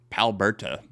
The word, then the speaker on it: Palberta: Palberta. Sounds like Alberta, Canada.